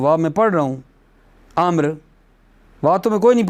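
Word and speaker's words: عمرو: ہے توجہ کرو نا، تزاد الواو خطاً لا لفظاً، واو کو زیادہ کیا جاتا ہے خطاً لا لفظاً، لفظاً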